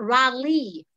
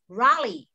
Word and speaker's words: Raleigh: steinem speak no okay it's not rally raleigh rory rogers yes i'm